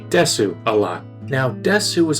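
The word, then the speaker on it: です: So the normal one would be des instead of desu.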